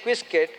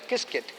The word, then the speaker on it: Qiskit: You have got a product called kisket which is what they use in actually it starts with Q but it has to be pronounced asqiskit. It looks like quiskit but it has to be pronounced as kiskit.